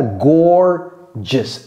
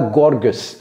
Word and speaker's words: gorgeous: pour une femme également vous voyez comment j'ai prononcé ça gorgeous c'est pas Gorg c'est pas Gorg gorgeous bal une personne qui